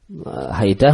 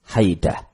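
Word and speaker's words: حيدة: Haidah bacanya fi fathil muhmalah. Muhmalah itu tidak bertitik. Yaitu haknya dan dalnya. Hak sama dalnya muhmalah tidak bertitik. Dua-duanya dibaca fathah. Haidah.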